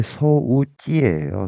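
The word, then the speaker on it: 装置: 그런데 만약에 이거 장치할 때 소우찌예요. 소찌. 근데 만약에 단음으로 소지해 주면은 또 조치를 취하다의 조치가 돼 버립니다. 장음이냐 단음이냐에 따라서 의미가 달라지니까 발음할 때 소지랑 소지 요거 발음 조심해 주셔야 됩니다.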